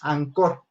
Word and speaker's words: Anchor: Se escribe Anchor, pero se pronuncia Maestro, Anchor. Anchor.